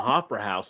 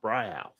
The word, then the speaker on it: Hofbräuhaus: I actually watched a video on it, and it wasn't Hofbrauhaus on how it was pronounced. It was Hofbräuhaus. That's how they were all pronouncing it on the video and stuff over in Germany.